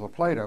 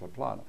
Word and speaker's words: La Plata: And right down the road was La Plato, which I guess they had named after a river in South America. I mean, it should have been pronounced "La Plata."